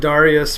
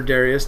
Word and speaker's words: Darius: we end up with Darius or Darius depending on what how you like to pronounce that in chapter 9 and